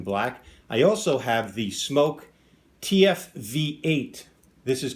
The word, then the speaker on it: SMOK: Today I'm going to be doing a review on some SMOK products, pronounced SMOK.